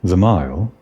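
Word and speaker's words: Zaille: my friend I'm sorry it's pronounced theile I guess I should have realized that D was silent but you know I always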